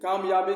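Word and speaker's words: comb: है सीओ एम बी कंप नहीं उच्चारण होगा क्योंकि बी साइलेंट है ये हो जाएगा कम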